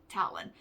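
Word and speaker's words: Talan: is talon gwinnick and talon is spelled t-a-l-a-n not like bird feet but talon and he and his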